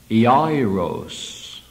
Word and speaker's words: Jairus: The Greek would have it similar to that, ending with an O-S instead of a U-S, and would be pronounced Jairus.